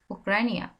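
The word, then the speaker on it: Ucrania: তে তাইওয়ান তে Taiwan you উক্রেনিয়া উকে বলতে হবে উক্রাইনিয়া উ উকরানিয়া উকরানিয়া উবে ভিয়েতনাম উবে ভিয়েতনাম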